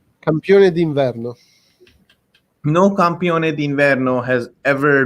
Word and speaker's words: campione d'inverno: The biggest point they have is that no campione di Verno. What was it? Verno? How do you say it? Campione d'inverno.